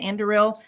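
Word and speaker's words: Anduril: of andil is that how you say it andil yeah and um and as well as Peter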